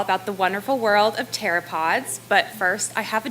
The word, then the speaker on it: pteropod: the wonderful world of pteropods but first I have a joke why can you hear a pteropod go to the bathroom because the P is silent come on guys you'll